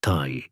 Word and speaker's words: ti: For example, a drawing of an arrow pronounced Thai in Samrian could also represent the word life, also thie.